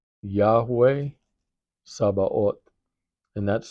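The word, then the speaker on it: Sabaoth: Um, another of his names is Yahweh Sabah. Yahweh Sabah. And that's spelled S A B A O T H.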